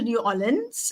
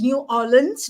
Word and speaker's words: New Orleans: So I did go to New Orleans, and it's New Orleans, not New Orleans, as I was told to pronounce it.